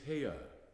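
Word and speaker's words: Haigha: happy his name is haa he pronounced it so as to rhyme with mayor the other Messengers called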